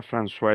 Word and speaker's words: François: Hay personas que dicen, "Tú hablas francois." François, la palabra francois existe, significa Francisco, porque la o con la i es ua.